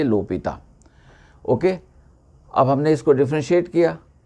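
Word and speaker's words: L'Hôpital: rule लगाते हैं okay लोपिता में कभी-कभी लोग एस लिखते हैं कुछ लोग एस नहीं लिखते हैं मगर प्रोनाउंस इसको करना चाहिए लोपिता ओके अब हमने इसको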